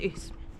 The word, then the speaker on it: Ouse: So for most of my life, I was calling it Ouse Valley, until I was telling someone about it and they had no idea what I was talking about, and then realised and corrected me, it's pronounced Ouse.